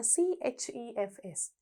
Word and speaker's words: chefs: දැන් මෙතන CHEFS. හුඟක් සමහර වෙලාවට දුවලා පුතාලා ඔක ටිකක් අර CH තියෙන හින්දා ch sound එකනොත් pronounce කරනවා. එහෙම නෙවෙයි chefs කියලායි කියන්නේ.